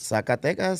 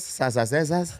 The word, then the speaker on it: Zacatecas: We pronounce things differently. Barry, you know, We got a he's, friend who can't say Zacatecas. Zacatecas, Sasasesas.